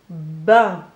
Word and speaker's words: bain: Donc dans bain, on entend une seule syllabe avec deux sons. Le premier, c'est le son B fait par la lettre B. Et le 1 avec mon graphème A, I et N.